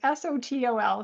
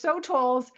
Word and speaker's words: sotol: And there's a plant, I don't know how to pronounce it. It's s o t o l, sotol.